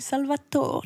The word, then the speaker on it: Salvatore: Ouais, non, c'est vrai, mais c'est parce qu'en italien on dit Salvatore. Ouais. C'est la syllabe accentuée.